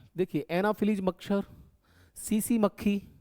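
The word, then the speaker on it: tsetse: देखिए, एनाफिलीज मच्छर, सीसी मक्खी, यानी कि ये लिखा हुआ है जापानी शब्द है, तो टी को साइलेंट रखेंगे। सीसी मक्खी बोलते हैं इसको।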